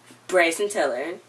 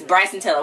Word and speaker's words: Bryson Tiller: Brayson Tiller. Wait, what did you just say this was? Best Male R&B Pop Artist. It said... it's Bryson Tiller.